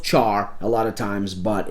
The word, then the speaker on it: char: It's it's pronounced char a lot of times but it's actually stands for character. uh we just don't pronounce it care because that would be that would be weird sounding and char it just